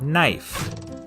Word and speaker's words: knife: is in the word knife in Middle English it was pronounced knife but after The Vowel Shift the K became silent and the E turned